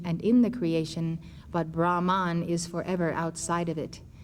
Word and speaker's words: Brahma: is in the beginning Brahma is the name for the first person of the Hindu Trinity father as in Brahma Vishnu Shiva there is no n on the end of that name and if you think